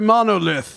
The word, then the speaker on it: Monolithe: They're from France, so you don't pronounce the E. Le Monolith.